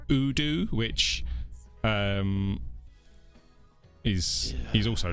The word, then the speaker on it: Odoo: Maybe we should start pronouncing Odoo the right way. We don't put enough d in. Odoo.